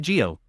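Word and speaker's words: Zi-O: Geo media, like how Kamen Rider Zio is pronounced Kamen Rider Geo.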